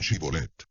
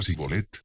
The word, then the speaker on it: Shibolet: Si respondían que no, les pedían que dijeran Shibolet. Y si el fugitivo decía Sibolet, porque no podía pronunciar esa palabra correctamente, le echaban mano y lo degollaban junto a los vados del Jordán.